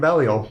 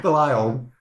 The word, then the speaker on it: Belial: Or I stole it from Belial. Belial? Belial. You know, Belial. Both pronunciations are correct.